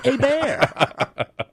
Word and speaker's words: Hebert: It's spelled Hebert, but it's pronounced a bear.